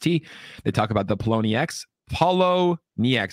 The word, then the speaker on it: Poloniex: Poloniex. How do you guys pronounce it?